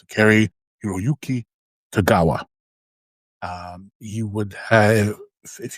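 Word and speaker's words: Cary-Hiroyuki Tagawa: Yeah, that's how you pronounce it. Carrie Hiroyuki Tagawa.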